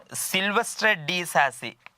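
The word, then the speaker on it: Silvestre de Sacy: പിന്നെയുള്ളത് സിൽവസ്ട്രെ ഡി സാസി, ഇത് ഫിലിപ്പ് കെഹിറ്റ് ആണ്. സിൽവസ്റ്റർ ഡി സാസി, ഉച്ചാരണം ഫ്രഞ്ച് ഭാഷയിലായിരിക്കും.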